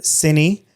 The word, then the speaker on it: Cinny: I named her Cinny after my cinema camera and cinematography. And a lot of people have asked how to pronounce it because it's C-I-N-E, but it's Cinny.